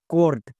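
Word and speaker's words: court: sound করবো যেমন mouse এবার দেখো সি এর জন্য কোউ এরপরে আর আছে তার মানে ও ইউ এর জন্য এখানে ও কার সাউন্ড হবে এখানে কিন্তু আও হবে না আর এর জন্য রো এবং টি টি এর জন্য টো তাহলে কি হলো কর্ড সো এখান থেকে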